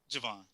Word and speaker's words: Jovan: out to or i'm sorry i said your name wrong you said it say it for me javon javon okay javon i apologize for that javon